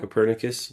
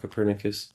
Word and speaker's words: Copernicus: N Copernicus. Not Capernicus.